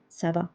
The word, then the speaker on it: ça va: Instead of saying ça va, we are saying ça va because of this accent.